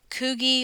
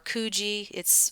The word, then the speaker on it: Coogi: And this is Coogie or Coogie. I've heard it pronounced both ways.